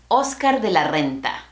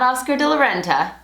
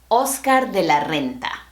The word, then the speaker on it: Oscar de la Renta: República Dominicana, and the correct pronunciation is Oscar de la Renta. Not Oscar de la Renta, Oscar de la Renta.